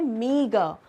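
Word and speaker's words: meagre: इसका प्रोनाउंसिएशन है मीगर। Okay, मीगर।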